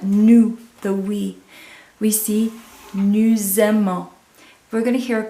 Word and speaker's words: aimons: We're going to hear that S because it's in front of a vowel. Nous aimons becomes a Z sound. And then we are going to hear the ON, but you're not going to hear the S again.